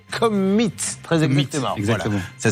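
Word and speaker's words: Commeett: Nous avons la chance d'avoir sur notre plateau Gérald Vanier qui aimerait bien qu'on prononce correctement le nom de sa société qui est Commit.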